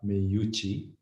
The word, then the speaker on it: Meucci: my great pleasure delight to welcome uh shiva me yuchi and did i pronounce your name correctly shiva excellent i've heard